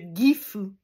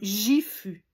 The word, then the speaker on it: Gifu: Et la plupart des gens vont le prononcer comme Gifu. OK? Donc, parce que c'est ça, c'est qu'ils vont voir un livre, s'ils n'ont pas un professeur de français ou du moins de japonais, ou du moins quelqu'un qui a une bonne base en japonais pour leur expliquer qu'on ne dit pas Gifu, mais Gifu.